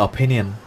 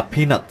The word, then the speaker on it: opinion: phát âm sai từ opinion. Thật à? Thế thì bạn đã nói như thế nào? Tôi phát âm từ opinion, nhưng nghe gần giống như là peanut.